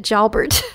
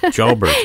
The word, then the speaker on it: Pierre Jalbert: jber I mean I I want to give it the you know the full French pronunciation because of the name but he actually calls it jalbert jalbert okay yes good to